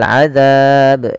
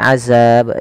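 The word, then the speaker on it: عَذَاب: dengan huruf Sin kemudian pfal adab ini jangan diganti dengan azab dengan huruf Zai tapi dia huruf dalal kecil yang mana makhrajnya Dari ujung lidah kita menempel dengan Gigi Sari atas kita kemudian ini juga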